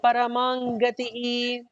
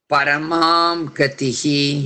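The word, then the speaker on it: परमं गतिः: Muktanam Paramangatihi. Muktanam Paramagatihi. Paramangatihi. Paramam Gatihi. Yeah. There is also a difference in how the dot, like what we say ma in most of the cases, which is a mistake.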